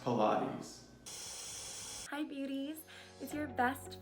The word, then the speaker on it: Pilates: so sorry I'm late this is my first plates class it's pronounced Pilates hi beauties is your